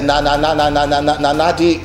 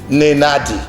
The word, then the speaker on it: Nenadi: And then when Nigerians see that beautiful picture, Peter Obi smiling with Abure, Nanadi, that lady's name is a tongue twister. Can you give me the pronunciation of her name? Nenadi.